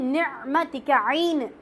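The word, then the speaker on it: نعمة: அதனால இன்ஷா அல்லாஹ் இந்த நிஅமத்துக்கும் நிக்மத்துக்கும் நிறைய வித்தியாசம் உண்டு. நம்ம உச்சரிப்பு கரெக்ட் பண்ணிக்கிறோம். நிஅமத் என்றால் அருள்கொடை, நிக்மத் என்றால் எதிர்பாராத தண்டனை. அதெல்லாம் அல்லாஹ் பாதுகாக்கணும். நூன் காஃப் நிக்மதிக, இது நிஅமதிக. ஐன் இருக்கிற இடத்துல காஃப் வச்சு என்ன செஞ்சிடக்கூடாது, சொல்லிடக்கூடாது.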